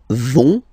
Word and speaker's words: vont: So, ils vont, final T, not pronounced.